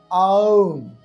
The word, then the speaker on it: ওঁ: করবেন অর্থাৎ আগেই দেখেছি ওম এর উচ্চারণটা হবে ওম অর্থাৎ আ যোগ উ যোগ ম ডানদিকে স্ক্রিনে দেওয়া রয়েছে